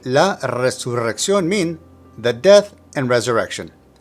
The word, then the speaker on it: resurrección: Resurrección is a little trickier. Now note that there's an accent on the letter O, so that's where the emphasis of pronunciation is located. Also, you have two different trills of the R, one at the beginning of the word and the other at the double R.